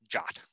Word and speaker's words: JWT: Now, with ZOS version 2.4, RACF is introducing a new assertion mechanism, the JSON Web Token, abbreviated as JWT and pronounced JOT.